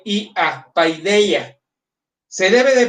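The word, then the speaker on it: paideia: Pa d i a paideya. se debe de pronunciar pidía porque los diptongos alfa yota como eta yota se pronuncian como iota, como i en la en el griego moderno.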